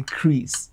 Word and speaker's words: Kriz: just a vibe being just to change the last s to um a z and the c the c h to actually put it to k so people say crease just the way we pronounce it i always want